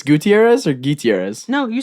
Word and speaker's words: Gutierrez: Welcome, Gutierrez. Yes. It's not it's Gutierrez or Gutierrez?